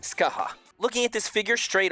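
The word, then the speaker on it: Scáthach: name may be felt like scoic but it's pronounced Skaha looking at this figure straight on she is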